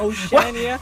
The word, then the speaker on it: Oceania: That's Oceania.